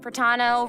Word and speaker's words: Pratano: And hosting with me today, we have Hey everyone, I'm Pratano, rhymes with Capitano, the voice of child's master, Skirk.